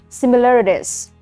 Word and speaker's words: similarities: This one, okay, this is similarities. Similarities. Can you guess the spelling? Similarities. So this is similarities. This one. Okay. Even though the pronunciation Z here, the spelling ended with S.